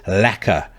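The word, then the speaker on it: lekker: use it on this occasion the word is lacer which is spelled l e k k e r it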